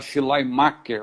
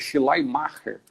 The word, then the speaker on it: Schleiermacher: O pessoal fala Schleiermacher, mas minha filha que me ensinou, minha filha está estudando alemão, falou que é Schleiermacher, né?